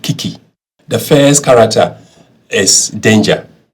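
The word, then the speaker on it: 危机: It's pronounced kiki.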